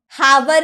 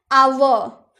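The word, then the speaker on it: hour: आवर, हावर नहीं ना बोलते हैं, आवर।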